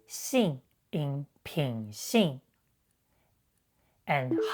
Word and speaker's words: 行: Besides, it has multiple pronunciations when used in compound words with different meanings. For example, it is pronounced 信 in 品性 and 行 in 行业.